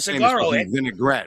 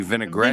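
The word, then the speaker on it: vinaigrette: But I think what kind of vinegaret, right? It's supposed to be vinegrett.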